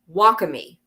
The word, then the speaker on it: wakame: And so it's pronounced wacami.